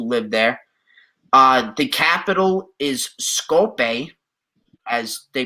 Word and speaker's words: Skopje: The capital is Skopje, as they pronounce it.